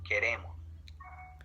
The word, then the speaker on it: queremos: the intonation will go in the second syllable. Queremos.